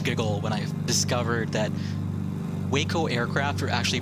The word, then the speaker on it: Waco: hunter so uh the the city or the town of waco is pronounced exactly like that is pronounced waco and i think that's